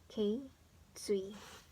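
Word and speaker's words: 頸椎: So it's actually read as K, Tsui.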